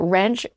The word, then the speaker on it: Rensch: He is and I I wrote this when we signed his book he didn't never heard this before which was shocking that wrench rhymes with mench, okay?